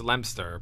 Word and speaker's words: Leominster: Well, it's Lemster, but Lemster? How would you say Lemster is spelled? Lempe... Oh, wait. P-E? Lempe-P-S-T-R. Lemster. Yeah, it's Leominster. Leominster. Yeah. Leo Minister?